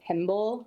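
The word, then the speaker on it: tymbal: a special organ called a timble which rhymes with a symbol um I'm basically just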